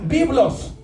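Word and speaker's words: βίβλος: Por eso le pusieron Biblia, porque Biblia significa en griego, se pronuncia biblos y significa colección de libros.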